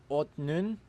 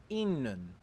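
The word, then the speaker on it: 있는: This word becomes otnun, which is then pronounced innun.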